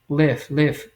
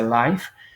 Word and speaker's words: live: you used to live live no se pronuncia Live y una vez para que por ahí corrijan si es que alguno de ustedes dice Life No se pronunciado Life se pronuncia Live Is The lifeti desde